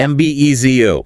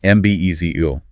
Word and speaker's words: embezzle: M-B-E-Z-O. Stress on the second syllable. M-B-E-Z-O.